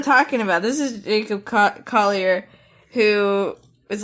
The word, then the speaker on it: Collier: Collier. How do you say his name? Collier. I always want to get real fancy with it, like Collier. I always want to get so French with his name.